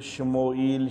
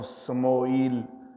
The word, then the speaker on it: شموئیل: حضرت شموئیل علیہ السلام، نام کا تلفظ شموئیل شین کے ساتھ بھی استعمال کیا جاتا ہے اور سموئیل سین کے ساتھ بھی تلفظ آتا ہے۔ تو حضرت شموئیل یا